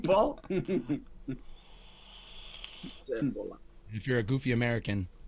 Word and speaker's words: zeppola: The accent being on the first syllable. Zippola.